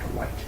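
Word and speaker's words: Wight: It's pronounced White. Really? Paul White. Yep. W-I-G-H-T. Yep. White? I guess site. Yep, that makes sense.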